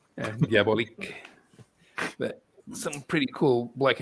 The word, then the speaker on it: Diabolik: And So have I been mispronouncing it all my life by calling it Diabolic? well, it's Italian, so you're supposed to pronounce it in Italian. I always pronounce it diabolique. Diabolik.